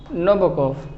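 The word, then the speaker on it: Nabokov: और ये ध्यान दीजिएगा कि व्लादिमीर नाबोकोव है, ये आखिरी में वी लिखा है बट the pronunciation is फॉर, the last word is फॉर। तो व्लादिमीर नाबोकोव।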